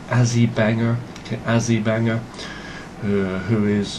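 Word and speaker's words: Azi Banger: For those of you who have never seen Azzy Banger before, it's spelled A-Z-I or A-Z-I. Okay, that's Azzy, and then Banger, B-A-N-G-E-R. Azzy Banger.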